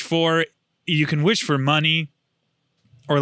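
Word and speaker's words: munny: Kingdom Hearts calls it money but they spell it like mu n n i No I think it's it's money like honey is misspelled in Winnie the Poo that's the joke I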